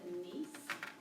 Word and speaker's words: gneiss: It's called gneiss, but it's spelled really funny, G-E-N-I-S-S.